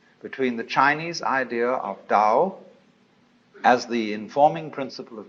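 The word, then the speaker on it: 道: a Dao ta AO pronounced Dao in the Mandarin dialect Tao in the changhai dialect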